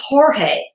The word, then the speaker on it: Jorge: In the Spanish language, letter G is often replaced by the J and pronounced with an H. For example, George becomes Jorge.